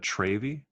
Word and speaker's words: Travy: Do you feel like a Travy? Yeah, that's how it. Yes, that's what I feel like it's pronounced Travy, and I hate it.